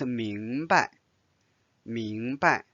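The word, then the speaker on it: 明白: Notice here there's no tone symbol. So it's 明白.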